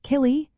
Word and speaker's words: Céilí: Kaye dancing is another popular style pronounced killy.